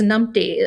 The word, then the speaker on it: numpty: We invented them, My favorite one that I just learned was numpty.